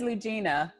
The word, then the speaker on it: Ludgina: So your name is Ludgina. Yes. I wrote it out Lugina, but that's not how you spell it. But right, the D is silent, so it's Ludgina, Ludgina, and the D is silent.